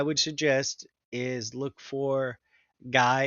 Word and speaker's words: Gui: If your book doesn't offer this, what I would suggest is look for Guy, it's spelled weird, gui.